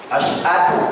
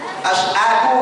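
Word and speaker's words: أشهد: coba-coba azan malu kita asadu asadu itu betul gak asadu ashadu alla ilahaillallah betul tak Asha. Asha kan asadu. Asadu bacanya cukup itu.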